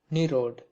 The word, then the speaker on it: Nirad: and da meaning giver in bengali it is pronounced nerod and a footnote had